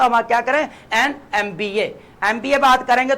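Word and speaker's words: MBA: अब बात करें यहाँ पे एन आ जाएगा, एन के साथ आपका एमबीए की पहला वर्ड देखें, एम का क्या है, वॉवल साउंड दे रहा है, वॉवल साउंड दे रहा है, स्पेलिंग को नहीं, वॉवल साउंड आप प्रोनाउंस करके देखें। एमबीए कर रहे थे, ई आ रहा है ना, ई आएगा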